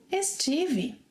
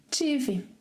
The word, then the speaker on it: estive: Estive. Tive. Let's hear our story again with this more colloquial way of pronouncing estar.